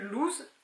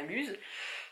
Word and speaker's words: loose: Alors, je voulais refaire un pull loose de Atelier Émilie. Donc on prononce bien loose et pas luse.